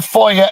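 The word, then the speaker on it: FOIA: We can foyer request uh public lobby cameras and foyer is spelled fo i a.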